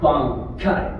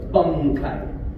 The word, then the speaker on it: bankai: Somebody posts a bankai, but it's because the Japanese goes bankai, right? Mm-hmm. But the animation goes bunkai, right? Okay. So I had to do bunkai to fill it in, and they're like, but